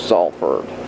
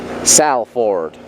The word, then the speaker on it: Salford: In the district of Salford. Salford. In the district of Salford. Salford. How would Americans say I'm saying it like that now.